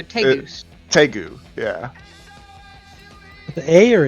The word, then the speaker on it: tegu: Yeah, they're like, I think they're called tengus or something. They're like they're reptile dogs. They're literally trainable lizards. They're big too. Or I don't know how to say it. It's not like tengu. No, they're tegus.